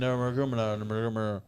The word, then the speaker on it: Nurmagomedov: keep an eye on him heavyweight nick and nurmagomedov that's exactly how it's pronounced yeah yeah i recognize the name i